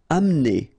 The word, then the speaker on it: amener: Amener. Don't insist on the E here because you don't really pronounce it.